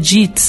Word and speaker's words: Dietz: simples também, P-R-I-S-C-I-L-A, Dietz, mas pronuncia JITS, né?